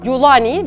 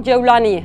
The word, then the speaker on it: Cevlani: Golanlı manasındaki kelimenin Arap medyasında Culani veya Cevlani şeklinde lehçeden lehçeye farklılık gösteren telaffuzları mevcut. Biz bu videoda Suriye'de yaygın olarak kullanılan Cevlani'yi esas alıyoruz.